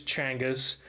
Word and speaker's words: Genghis: was a good question Timothy says that the pronunciation is Changas but uh as news of Changas exploits spread